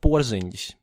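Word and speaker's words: Porziņģis: All of Latvia are New York Knicks fans by now, because of Porziņš, and that's how you properly pronounce his surname.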